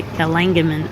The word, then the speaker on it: Kalanggaman: Things you need to know before you go to Kalanggaman Island.